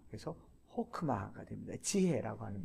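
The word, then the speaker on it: חכמה: 강세가 없는 폐음절일 때는 오로 발음한다. 강세가 없는 폐음절, 강세가 없는 폐음절. 자, 단어가 쓰였어요. 제일 많이 쓰이는 게 호크마입니다. 호크마. 사칸이라고 얘기하죠. 호크마는 쓰기를 딱 봤을 때 하크마 이렇게 읽습니다.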